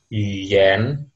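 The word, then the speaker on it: 语言: Kalau bahasa Jepang, Bahasa Jepang, cara bacanya gengo. Gengo. Artinya bahasa. bahasa. Oke. Bahasa. Kalau di bahasa Mandarin, bahasa itu yuyen.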